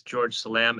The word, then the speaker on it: George Selam: Members of the public, we're going to swear in this next witness, George Selam, and Shauna Volkers, the attorney for the Yakima Nation, will give us a brief overview of what he'll be testifying to.